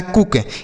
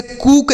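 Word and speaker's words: cook: तो यह लिखा है कुक। इसे कुक नहीं पढ़ेंगे, कुक पढ़ेंगे।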